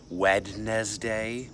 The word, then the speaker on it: Wednesday: Isn't it interesting that it's spelled Wednesday, but we just say Wednesday?